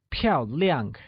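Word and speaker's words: 漂亮: the translation of beautiful beautiful becomes pl Liang where PL is said with a falling tone means elegant and Liang also said with a falling tone means bright thus beautiful becomes pure Liang excellent the sentence she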